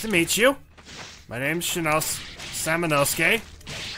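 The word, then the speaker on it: Samanosuke: My name's Samonosuke. I keep mispronouncing the name and thinking it's Shinosuke, and it's not.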